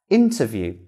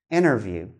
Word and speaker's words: interview: is the glottal t if the t comes after n regardless of the position the t sound is gone and not pronounced you can come across